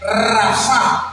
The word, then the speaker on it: rafa: Wow, se escribe Rafá, como Rafael, pero con tilde en la por su llaga fuimos rafá, fuimos curados.